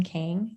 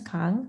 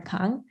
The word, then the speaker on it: Kang: to clarify my name I grew up pronouncing my last name King like my whole life um but the correct Korean pronunciation is Kong the way that Haley